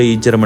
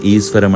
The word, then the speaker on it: ஈச்சரம்: நாங்கள் படிக்கும்போது கூட ஈச்சரம் என்று தான் படிச்சினாங்க. ஆனால் வெளியில் வந்து அதை சமூக வலைத்தளங்களில் எழுதும் போதும் சரி, உச்சரிக்கும் போதும் சரி, ஏன் ஈஸ்வரம் என்று உச்சரிக்கிறோம் என்று தெரியலை. உண்மையிலே இப்படியான செயற்பாடுகள் மிகவுமே மனவேதனைக்குரியது.